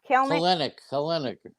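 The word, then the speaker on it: Kelenic: Kelenik. Like Melanik.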